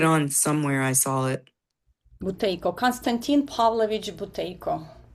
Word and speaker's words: Buteyko: The doctor's name, can you spell it? Buteyko, Buteyko, Buteyko. Okay. Can you say that again? B-U-T what? B-U-T is a Tom, E-Y-K-O, Buteyko.